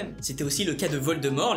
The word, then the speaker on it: Voldemort: C’était aussi le cas de Voldemort, les anglais avaient tendance à prononcer le t Voldemort !